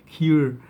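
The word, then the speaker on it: cuir: So in French it's called queer. No, it's not queer. It's queer. Sebastian Zara tried to do a episode on how to say it, but I still cannot say it. French is a very difficult language. So basically, it is a cur. It's not cur. It's a cure.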